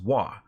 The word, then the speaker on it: Wacom: cool so Wacom first the wuah is the Japanese symbol for harmony it's how it's pronounced wha so the Wacom the